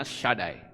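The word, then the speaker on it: שדי: Shaddai, kalau saudara lihat di Mezuzah, itu ada tulisan Sin Dalet Yod, itu membacanya Shaddai.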